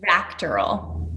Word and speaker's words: VACTERL: It's pronounced VACTERL. VACTERL.